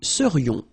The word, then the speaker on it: serions: So then, final S not pronounced, and then this is this yon, yon. Remember, it goes in your nose, it's nasal. Yon, nous serions.